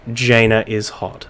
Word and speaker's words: Jainaishot: if I realized that someone in chat mentioned that it is in fact Jana is hot so please excuse the